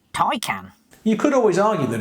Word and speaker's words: Taycan: elocution lessons to anyone who says the word take out i think you'll find it's pronounced tai can you could always argue that it's spelt t